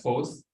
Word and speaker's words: foes: To my foes, that should have been pronounced as foes.